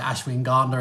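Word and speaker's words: Ashwagandha: them okay um yeah Ashwin Ganda ashang Ganda there uh tomato tomato potato potato my one of my mentors always pronounced it Ashwin gandler and it kind of rubbed off on me so um yeah they're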